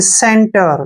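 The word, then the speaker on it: center: टी ई आर देखिए सेंटर क्या पढ़ा हमने सेंटर सी के ठीक बाद क्या आया है ई तो जब भी सी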